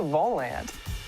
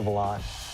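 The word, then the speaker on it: Volante: Lately, you might have seen one of these red stands around campus and wondered, hey, what's the Volant? Well, actually, it's pronounced the Volant.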